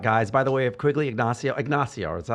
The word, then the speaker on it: Quiggle Ignacio: along the lines of this then because everything we're talking about, guys, by the way, of Quiggle Ignacio, is that how you Yes.